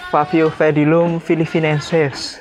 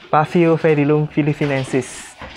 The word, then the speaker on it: Paphiopedilum philippinense: Sobat sekalian, ini adalah sosok dari Favio pedilum filipinensis ya. Favio pedilum filipinensis. Favio pedilum filipinensis. Karena P sama H itu bacanya harusnya fa gitu ya. Favio pedilum filipinensis.